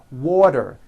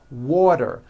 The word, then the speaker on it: water: water is pronounced as water the t turns into a d and the whole word is voiced water I want water better